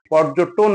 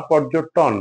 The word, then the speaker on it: পর্যটন: দুটোতেই আমরা টকে ওকার করে পর্যটন বলি। পর্যটন না পর্যটন।